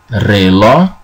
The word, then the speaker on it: reloj: El reloj. You notice here that the word reloj, the J at the end is silent. You don't pronounce that.